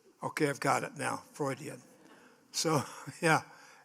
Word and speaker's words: Freudian: babyhood it's sort of Fraud frauding and then fraan is that the right way to say it yes Freudian okay I've got it now Freudian so yeah it's uh